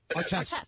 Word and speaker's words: Artest: Artest.